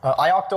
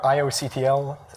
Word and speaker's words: ioctl: is familiar with is ioctyl or the field is called unlocked i-octyl so i will briefly introduce what that is ioctal or ioctl some people pronounce it that way it stands for input